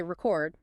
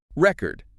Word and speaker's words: record: You say record, stressing the first syllable. Record like a music album or maybe a document, the thing itself, right? The noun. But if you shift the stress and say record, record.